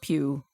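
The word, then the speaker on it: Pugh: commented that in the 2019 version um Florence Pew I think that's how you say it from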